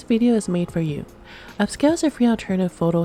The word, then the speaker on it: Upscayl: The best part is that you can upscale multiple photos at once. So this app is called Upscale. It is spelled Upscayl.